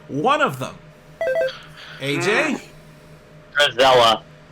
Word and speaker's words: Drizella: Drizella. Say that again? Drizella.